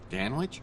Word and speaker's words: Dan Witch: surprised you remember me Dan witch are you kidding me rhymes with man witch and man witches are